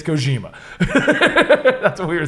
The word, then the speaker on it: Kojima: Listen, it's Kojima. That's what we were saying apparently. Listen, it's Kojima. Yep. oh, for like why it's so weird. Yeah, Right, why right, is right. it It's Kojima.